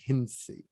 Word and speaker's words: Hencye: i want to welcome to the show hinsi so did i say it correctly yeah but